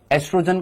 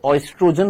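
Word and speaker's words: oestrogen: ये जो एस्ट्रोजन जो होता है, एस्ट्रोजन को इंग्लिश में हम एस्ट्रोजन तो लिखते हैं, लेकिन उसके आगे ओ आता है, ओ साइलेंट होता है, तो एस्ट्रोजन ही बोलते हैं। वैसे ऑयस्ट्रोजन होता है, जो अमेरिकन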